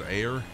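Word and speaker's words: Ayr: 13 nautical miles away from Final Destination of Yankee Alpha Yankee Romeo air is that how it's pronounced is air yep that's it there it is okay the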